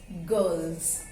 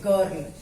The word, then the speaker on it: girl: First one is girl, and its plural is girls. G-I-R-L-S. Children, don't pronounce it girl. Or should not be pronounced very prominently. Girl, we pronounce it girl, girls. R जो है वो almost silent है.